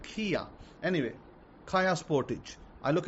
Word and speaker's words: Kia: You guys pronounce it Kaya. In Pakistan, they pronounce it Kia.